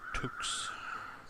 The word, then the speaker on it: toque: I've got 2 wool toques. Toques. Oh, it does actually say how it's pronounced.